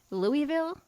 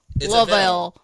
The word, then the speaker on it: Louisville: I'm like, my podcast host lives in Louisville. She's like, Louisville.